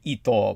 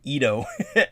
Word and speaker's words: Ito: ito which you know that's not how they pronounced his name but the japanese american judge my mother of course explained that his correct pronunciation of his name would be ital but everybody just everybody just called them ido i have something to